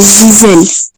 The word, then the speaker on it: Giselle: J'espère avoir bien prononcé votre nom. Ah oui oui en fait c'est Giselle. Giselle.